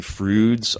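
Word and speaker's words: Froude: Um James Anthony Frouds. Uh you say it the way uh uh Bill and Ted pronounce fruit and uh but it's actually spelled F R O U D E.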